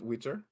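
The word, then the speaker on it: Witr: w i t r so like like like skitter but Witter yeah oh wow okay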